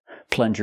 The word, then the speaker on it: plunger: Use the short sound like cup and up. Plun. plus the j sound like in juice and jump.